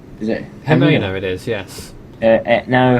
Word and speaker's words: Jimena: How do you pronounce the J name? Is it Jimena, it is, yes.